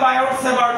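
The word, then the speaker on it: Biot-Savart: না এটা বললে হয় বায়োসেভার্ট ল এখানে বলে টি সাইলেন্ট তাহলে সেভার্টের টি ও সাইলেন্ট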